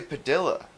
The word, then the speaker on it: Padilla: And in our dialect, we pronounce our L's, especially double L's. We say Padilla.